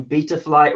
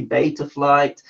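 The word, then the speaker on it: Betaflight: I'm saying something wrong everyone tells me I'm saying beat a flight wrong and it should be beta flight I say BT rpm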